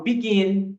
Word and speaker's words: begin: uma consoante e essa essa sílaba ela é a tônica por quê Porque eu falo begin e não falo begin né então A intonação